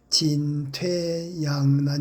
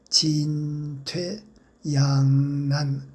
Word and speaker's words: 진퇴양난: 단지 제가 여기서 어 말씀드리고 싶은 것은 장단 고저의 문제 진퇴 양난 진짜도 길게 약간 높게 양도 약간 높게 발음해야 하겠습니다. 그런데 지금 진퇴 양난 진퇴 양난이라고 진하고 양자를 짧게 읽고 있습니다.